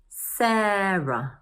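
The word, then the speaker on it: Sarah: Take a look at this name: It consists of two syllables or parts: Sa-rah. When a name consists of two syllables or parts, we usually stress the first syllable.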